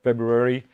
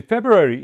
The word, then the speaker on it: February: is the 20th of February 2022 February it started word that sometimes you forget to put the first R in I I often pronounce